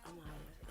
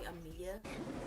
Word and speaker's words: Amaya: My real name is Amaya, and you would think people would pronounce your name correctly, but no, like Amaya is just like Maya, you know, it's just like a few words.